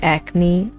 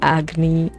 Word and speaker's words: Agni: Mostly difficult for me not to make it sound like acne, so I have to try to overdo the pronunciation, like Agni.